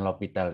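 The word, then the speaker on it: L'Hôpital: L'Hopital ya, dibacanya itu biasanya aturan L'Hopital gitu.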